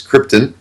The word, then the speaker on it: Krypton: You are pronouncing the planet incorrectly. It's Krypton.